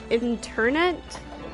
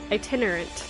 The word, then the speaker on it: itinerant: us let this journey internet is that how you say that i itinerant that's how you say